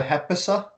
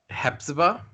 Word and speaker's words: Hepzibah: Do we want to go to is it your turn to do the Hepisa? Hepzibah. Hepzibah? Her real name is unpronounceable, so you got to pronounce her fake name.